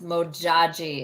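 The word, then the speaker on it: Modjadji: African goddess Rising Oracle deck is mojaji yes mojaji is how her name is pronounced and it's about manifestation and get her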